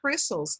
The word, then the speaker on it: crystals: Pictures of insects in biology textbooks or crystals in mineralogy books are often fotografados, using microphotography techniques. One observation here is on the pronunciation of the word crystals, okay? The T, you almost don't pronounce.